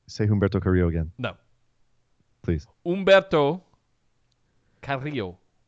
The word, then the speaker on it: Humberto Carrillo: Humberto Carrillo. Am I saying it correctly? Yeah, it's close enough. It's good. Thank you. I rolled my R's, right?